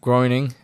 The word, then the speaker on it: Groening: So Matt Groening, is that how you pronounce his name?